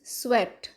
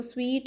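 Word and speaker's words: sweat: फिर next word is स्वेट। स्वेट के spelling क्या है? SW स्व, फिर आगे ईट, तो ये बन जाता है स्वेट। इसको स्वीट नहीं बोलते, स्वेट बोलते हैं, ठीक है।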